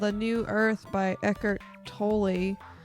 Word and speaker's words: Tolle: I'm reading a book called A New Earth by Eckhart Tolle. It's pronounced Toll.